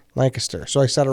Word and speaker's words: Lancaster: uh Lancaster Pennsylvania Lancaster how do you say Lancaster Lancaster so I started right the first that's where